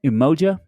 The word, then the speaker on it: Umoja: Umoja?